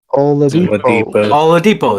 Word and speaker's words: Oladipo: Oladipo.